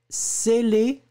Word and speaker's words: scellé: Le premier, scellé. Le deuxième, zélé. C'est véritablement la différence entre le ce qui est très très fort et le ze.